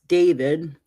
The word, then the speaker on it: D4VD: The brief said that David, pronounced David, 21, whose legal name is David Burke, had